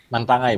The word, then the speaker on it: Mantangai: Bacanya Bapak itu Mantangai. Mantangai Bu, Mantangai. Oh Mantangai ya.